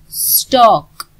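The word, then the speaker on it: stork: स्टॉक. Are silent.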